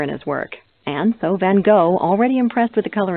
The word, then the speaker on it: Van Gogh: Although most people refer to him as Van Gogh, the true pronunciation of his name is Van Gogh.